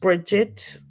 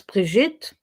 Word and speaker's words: Brigitte: But people, they call me Bridget. My name is Brigitte.